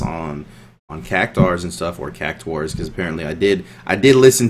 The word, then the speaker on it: Cactuar: She said she said cactar, and then the little kid on Final Fantasy 15 said cactuar, and I was a little confused by which one I should say. Yeah, he said cactuar, kind of like how you say it, or cactuar, and Echo said cactar, so I was a little confused. So there's no U in there.